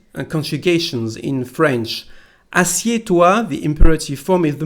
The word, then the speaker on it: assieds-toi: So here we don't pronounce the letter D nor the letter S. Assieds-toi.